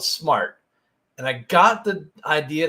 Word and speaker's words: smairt: a and I got the name of our company we call it smartt everyone always misses pronounces it and they think it's smeir but it's called smartt and I got the idea to create smartt